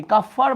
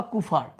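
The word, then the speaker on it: Kupffer: কাফফার বা কুফার। কাফফারকেই আগে বলা হইতো কুফার। মানে বলা হইতো বলতে ভুল বলা হইতো। উচ্চারণ এটাই।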